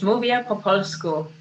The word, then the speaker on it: Mówię po polsku: Mówię po polsku.